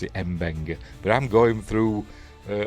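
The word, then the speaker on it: M'Benga: Mabena, I'm I'm still going to call him Mena even though in the show they pronounce it Mbena, but I'm going through uh McCoy's pronunciation from the original series Mabena, not Mbena because this isn't cannon, but we're watching anyway.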